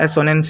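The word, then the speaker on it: assonance: है जिसका नाम है एजनेस ठीक है इसको एजनेस या सोनेंस सोनेंस हां एसनेस ही प्रोनाउंस कर सकते हैं तो हमारा पहला दूसरा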